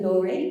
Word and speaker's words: Laurey: Well, as I said at the beginning, I am Laurey, rhymes with story, which is quite apt.